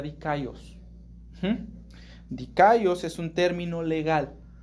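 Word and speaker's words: δίκαιος: Esta palabra en griego se pronuncia dikaios.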